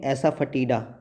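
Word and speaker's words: asafoetida: हींग कहते हैं हींग दोस्तों इसमें ओ साइलेंट है है तो इसका प्रोनाउंस एशन हम ऐसे करेंगे एसा फटी एसा फटी दा यह है ओरिगैनो ओरिगैनो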